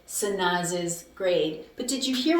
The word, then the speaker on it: Sanaz's: I added an extra syllable. And the reason why I had to add an extra syllable right here, when I added this apostrophe S, the reason why I added the syllable is, Sanaz is is because the name ends with a z or a s or a sh sound.